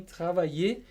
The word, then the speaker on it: travailler: E a gente não pronuncia o R, né, Garru, no fim? Não. E é como se a gente fizesse dois Is seguidos. Esses dois L's... A dica é essa. Você vai pronunciar I e o I depois. Travailler. Travailler. Dá uma alongadinha.